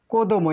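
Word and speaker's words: 子供: এইভাবে দিয়ে দেওয়ার পর এটি হচ্ছে কো দো কোদমো, এই কাঞ্জির নাম হচ্ছে কোদমো।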